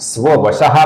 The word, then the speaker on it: स्ववशः: कारण से इस विसर्ग का हम ओ ऐसा उच्चारण करते हैं। अर्थात स्ववशः का लिखते समय तथा उच्चारण करते समय हम स्ववशो ऐसा ही रूप यहां पर देखेंगे।